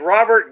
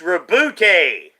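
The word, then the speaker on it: Roboute: rebuke gilliman you know it should be like robert gilliman but it's reboote and man i mean i don't even know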